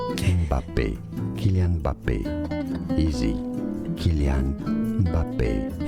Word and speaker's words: Kylian Mbappé: In French in France it's said as Kylian Mbappé, Mbappé, Kylian Mbappé.